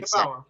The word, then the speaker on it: Yeboah: I'm pretty sure I think it's pronounced Yeboah. That's what I've been saying. Okay, Yeboah.